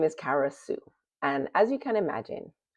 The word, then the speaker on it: Kara Sue: So, my name is Kara Sue, and as you can imagine, because Sue rhymes with you, I would get all